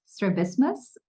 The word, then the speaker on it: strabismus: something to do and correct me if I'm not pronouncing this uh correctly it is it's strabismus yeah correct service okay got it